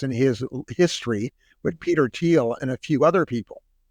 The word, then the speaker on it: Thiel: I think it's pronounced Thiel, T-H-E-I-L. Thiel.